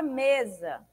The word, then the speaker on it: mesa: A palavra mesa. Mesa. Mesa. Olha esse me. Me foi falado com maior intensidade do que za, né? Então, me é uma sílaba tônica. Za é uma sílaba átona, porque ela é dita com menor intensidade. Se é a penúltima sílaba, então nós temos o quê? Uma palavra paroxítona.